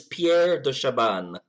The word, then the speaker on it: Pierre de Chabannes: you Pierre yes hi hello my name is Pierre do Shaban I appreciate you pronouncing your surname for me because I was